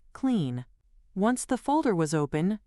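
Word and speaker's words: Cline: CLI or KLEN, which I am told is pronounced clean.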